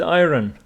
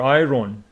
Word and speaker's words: iron: Some students pronounce it iron or iron. Incorrect. It is iron. It is iron, not iron. Let's listen. Iron. Iron. And that is the British one.